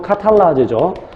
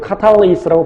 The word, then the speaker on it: 카탈라제: 이것은 과산화수소가 그 효소에 의해서 상처난 부분의 그 효소에 의해서 그 효소 카탈라제죠. 카탈라제 또는 카탈리스라고 발음하죠.